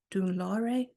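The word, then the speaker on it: Dún Laoghaire: One that a friend was doing on the beach, one that a friend was doing in Dunlore.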